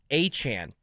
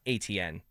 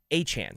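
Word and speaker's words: Etienne: last name and it's Achan like the running back in Miami like Devon Achan.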